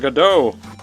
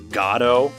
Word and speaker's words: Godot: And I have been told for quite a while now that it's supposed to be pronounced Godot, but I don't really care. I naturally say Godot. It's better for me. I just like it better. I would have to force myself to say Godot, and I don't want to